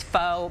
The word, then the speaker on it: pho: Pho. How do you say it? Pho. Pho. Pho. So Fee, pho. it is spelled pho.